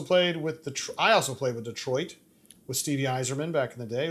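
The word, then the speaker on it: Yzerman: Could not initially correctly pronounce it. I can understand that. It'd be like Weiserman is what I would call it normally.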